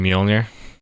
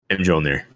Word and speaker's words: Mjolnir: You mean Mjolnir? Mjolnir. They literally say it in the movie that way. You can't argue with us on that one.